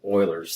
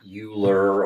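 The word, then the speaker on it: Euler: EU l r and it's pronounced Oiler not uler or any other version so that's why the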